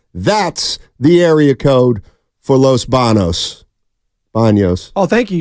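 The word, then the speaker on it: Los Baños: BOS oh thank you you said it right the first time steiny is right the alternative and in Spanish is Los Banos there's a tild day above the N I believe it's called an n and there's not one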